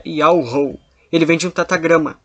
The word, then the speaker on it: Yahweh: do Altíssimo, que fez todas as coisas, é Yahweh. Ele vem de um tetagrama hebraico. Yod-He, Vav-He. Aqui nas nossas letras fica Y-H-W-H. E a pronúncia dele é Yahweh, desse tetagrama.